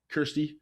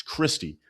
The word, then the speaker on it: Kristi: Uh Christy Noam, we're going to get into politics, guys. K Christy Noam. Kirsty. Is it Kirsty? Christy. It's Christy. I always want to call her Kirsty.